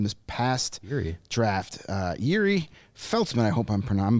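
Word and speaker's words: Felcman: names with the European Felman I believe it was well when I when I did the official pronunciation on Elite prospects they pronounced it Felman Felman like the C is a z oh okay yeah all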